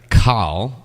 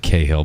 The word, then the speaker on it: Cahill: This week, I am super excited to bring to you Anthea Cahill, or in the States we pronounce it Cahill, but she's from Canberra,